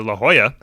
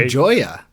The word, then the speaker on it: La Jolla: The second one was, which I live in California near La Jolla. It's spelled L-A. La Jolla.